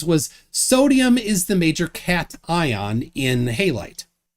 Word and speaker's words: cation: And when I told him it's pronounced cation, he didn't even know what that meant.